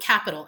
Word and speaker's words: Qapital: One of them is called capital, and it's spelled Qapital.